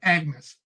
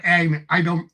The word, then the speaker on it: Agnes: from the perspective of Agnes, or Agnes. They pronounce it differently.